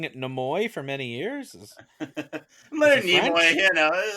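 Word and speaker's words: Nimoy: and it's good for kids have you been pronouncing it neoy for many years you know some people say Neo I just Leonard neoy is very famous for playing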